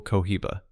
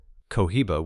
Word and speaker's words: Cohiba: They called the role Kohiba. Two syllables that would centuries later end up on the band of the most famous cigar brand on Earth.